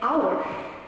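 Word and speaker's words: hour: Like when I say our I have an h at the beginning but I do not pronounce.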